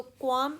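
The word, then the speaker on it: qualm: इसकी pronunciation L is silent, सो क्वाम इसकी pronunciation है।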